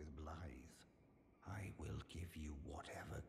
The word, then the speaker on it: Blaidd: There's Blythe! Which I never would have guessed that's how you pronounce it.